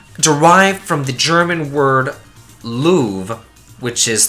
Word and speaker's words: Loewe: from the German word Loewe, which is like a lion, so his name should be pronounced Loewe, I believe. Kind of like the museum in France, the Louvre, I guess?